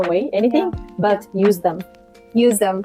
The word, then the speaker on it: useDEM: useDEM. It's like the brand name, the pronunciation. It came from the useDEM, but at the end it's just don't throw away, useDEM.